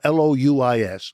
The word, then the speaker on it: Louis: Louis, the Louis is spelled L O U I S.